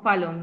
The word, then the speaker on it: Fallon: O Fallon, no sé cómo se pronuncia. Parece que te cuesta Angélica. Buenas. Ah, sí, está. Hola, hola, yo sí estoy, pero estaba quitándole esto. Bueno, sí se pronuncia Fallon, mi nombre es Fallon.